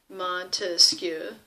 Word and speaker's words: Montesquieu: And the French Enlightenment thinkers around the mid-1700s were people like Baron de Montesquieu, oui, Montesquieu. And his belief, Montesquieu, 3 syllables, that there really needed